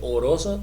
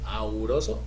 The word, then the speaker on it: auroso: Este es oro, y no se dice auroso ni no se dice oroso ni órico, no, se dice auroso o áurico, ¿verdad?